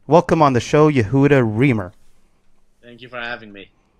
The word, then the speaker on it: Remer: I think that's how you say his name. Remer, yes.